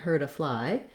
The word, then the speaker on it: hurt: a fly he wouldn't hurt a fly that t because it links to the vowel sound turns into a flap it sounds more like a d so this phrase hurt